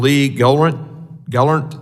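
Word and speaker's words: Lee Gelernt: United States thank you for being here Mr Lee Gant Gall did I pronounce that correctly sir thank yes thank you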